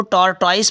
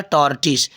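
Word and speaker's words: tortoise: अ टॉर्टिस, कुछ बच्चे इसको टॉर्टॉइस पढ़ते हैं। फिर टॉर्टॉइस इसका रॉन्ग प्रोनाउंसिएशन होता है। ठीक है, इसको जो सही प्रोनाउंसिएशन होता है वो होता है टॉर्टिस।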